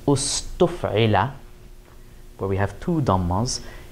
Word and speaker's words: اُسْتُفعِلَ: In the couple of cases where the structure of the wazn, the verb pattern, gives us extra syllables, in the past tense, we slip an extra dhamma in there. So in form 10, for example, where we have a lot of extra letters, it becomes ustuf'ila, where we have two